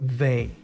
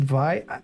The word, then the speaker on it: Vay: So all in all, a very good logo for Vey. Or is it Vi? I think it's Vey because it's a German company. I think it's like when a German pronounce way, Vey.